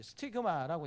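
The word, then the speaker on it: stigma: 이건 여러분 헬라어나 영어가 발음이 똑같습니다. 흔적이라고 하게 될 때 헬라오는 이제 스티그마라고 이야기하는데 영어도 그대로 스티그마라고 이야기합니다.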